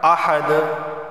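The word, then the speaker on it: أحد: کاف لام پیش کل، نون کو نہیں پڑھیں گے، وَلَمْ يَكُنْ لَهُ كُفُوًا احد، قلقلہ ہوگا کیونکہ دال حروف قلقلہ میں سے ہے، اور یہاں تنوین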